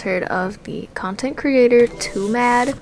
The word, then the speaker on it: TWOMAD: of the content creator too mad I'm pretty sure it's supposed to be pronounced too mad some people are saying to mad but like too mad makes sense Ow like you're too